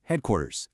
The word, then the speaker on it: Hdqtrz: Yep, it's pronounced Hdqtrz.